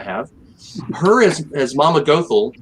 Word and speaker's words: Gothel: youtube and i have her as as mama gothel goethe however you pronounce it gothel thank you her as mother gothel is so